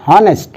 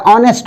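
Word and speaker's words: honest: जैसे an hour, N हॉनेस्ट, तो हॉनेस्ट में एच चला जाता है, ऑनेस्ट हो जाता है।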